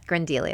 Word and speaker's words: Grindelia: One that really fascinated me is it Grindelia? Is that how you say it? Mm-hmm. Yeah, could you Grindelia. say, yeah, Grindelia.